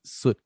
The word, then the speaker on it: Sut: About to get pseudo on us, boy. I don't know what's happening. No, it's soot.